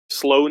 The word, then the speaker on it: Sloan: Yeah, instead of just using Big Daddy Tyler, Sloan even Yeah, rhymes with Stowe.